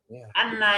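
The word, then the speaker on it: أنّ: Ini bacanya bukan inna tapi anna. Kenapa anna? Karena dia sambungan dari kalimat sebelum, bukan kalimat awal ya.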